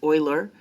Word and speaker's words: Euler: e it is often called euler's number it's pronounced like euler it's this looks like euler or something but it's euler and it is the base of the natural